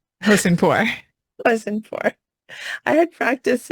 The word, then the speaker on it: Hosseinpour: And Tannaz, you will have to help me with the pronunciation of your last name. Hosseinpour.